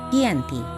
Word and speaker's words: Giyanti: Dalam pelafalan Belanda, ia tersebut sebagai Giyanti, dan secara tertulis ia terbaca sebagai Giyanti.